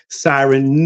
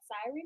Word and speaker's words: Psiryn: all social media platforms at siren music and that is spelled PS i r y n i and our next